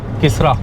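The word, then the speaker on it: Keesara: शायद last toll plaza है, शायद किसरा। वैसे स्पेलिंग तो ऐसे लग रहा है कि किसारा है, बट हिंदी में लिखा हुआ है क्लियरली किसरा।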